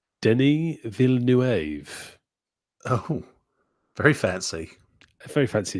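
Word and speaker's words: Denis Villeneuve: I don't know if we've been saying his name wrong oh yeah see I always say Dennis V yes same I heard him being called Denny V nuev oh very fancy very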